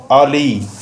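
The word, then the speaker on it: alley: और next word is आली। Spelling में थोड़ा थोड़ा डिफरेंस है, लेकिन इनका प्रोनाउंसिएशन में काफ़ी ज़्यादा डिफरेंस है। इसको हम आली प्रोनाउंस करते हैं, आली।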